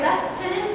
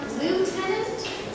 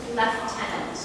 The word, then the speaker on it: Lieutenant: H by the way left tenant can also be pronounced L tenant it's the same word up here in Canada we pronounce Lieutenant leftenant his honor found the